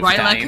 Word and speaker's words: R'lyeh: R'lyeh Cthulhu. R'lyeh. Oh, it's R'lyeh Cthulhu. R'lyeh. Yeah. R'lyeh. It was R'lyeh Cthulhu Fatine. Anyway, so that's how we're ending the stream. R'lyeh Cthulhu Fatine.